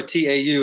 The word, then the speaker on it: Tau: toes him up too tau is my last name brother it's um it's a maori name so obviously uh it has a little bit different pronunciation with the vowels but um yeah if you've got ten toes on your feet it's not too hard to figure out i've hey i've seen